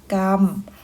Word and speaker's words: กรรม: เสียง เป็น อ่ะ นะ คะ อยู่ กับ ตัว สะกด นั้น ๆ ยก ตัว อย่าง เช่น คำ ว่า กรรม อ่าน ว่า กรรม วรรค อ่าน ว่า วัด อรรถ อัน ว่า อัด